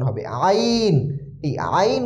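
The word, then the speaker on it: عين: ভুল করে থাকে এজন্য আইন একটু গলার ভিতর থেকে চাপ দিয়ে উচ্চারণ হবে যেমন হালামিন আলামিন হামদু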